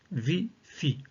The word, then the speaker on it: ViPhi: utiliser une respiration nommée vie fi qui signifie vivance phonique isoé en inspirant on prononcera vie dans la tête et en expirant on prononcera Phi Phi aussi dans notre tête